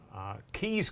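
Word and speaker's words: Caius: Keys Chorister, apparently, pronounced, as in Keys College at Cambridge.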